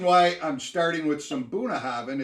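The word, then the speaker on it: Bunnahabhain: some buna hobbin buna the bh is pronounced v so buna buna haven haven in gaelic that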